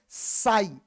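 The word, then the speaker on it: psi: Type का, तो इसमें पी क्या है? साइलेंट है। पी का उच्चारण नहीं करना है, इसका उच्चारण करना है एस आई का।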